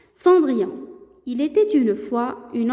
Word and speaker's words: Cendrillon: انتبهوا la prononciation. Cendrillon.